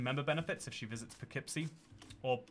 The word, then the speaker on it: Poughkeepsie: Chantal can get some member benefits if she visits Poughkeepsie, or Poughkeepsie, as it is correctly pronounced.